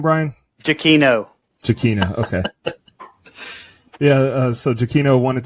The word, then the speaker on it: Giacchino: Giacchino, okay.